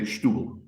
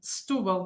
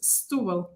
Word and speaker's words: Setúbal: I've heard people say Stubel. That's wrong. Yeah. All right, I guess maybe it's a specific accent that I don't know about, but. You know, normally it's Stubel. Maybe it sounds, if I'm saying it together with other things, it might sound a bit like that, but it's Stubel.